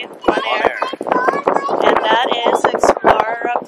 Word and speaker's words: Bonaire: Bonaire, that's how you say it. Bonaire.